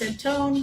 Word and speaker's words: Antone: I'm going to shout out especially the editor for this, Alex Antone, rhymes with phone, who has been juggling many things, including a new baby for the last 2 months.